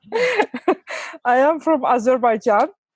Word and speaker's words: Azerbaijan: So just to make sure I pronounce my country again so people will get it right. I am from Azerbaijan.